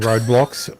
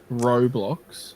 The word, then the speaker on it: Roblox: I keep saying roadblocks. I know I'm saying it wrong, but it's hard not to say. Roblox?